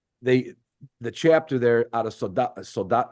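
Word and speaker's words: Soldotna: But when I had this judging assignment, the chapter there out of Soldat, how do you say it? Soldatna?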